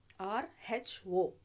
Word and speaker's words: rho: nothing but the row r h o we are going to write it as rh1 pronunciation is rho rho is equal to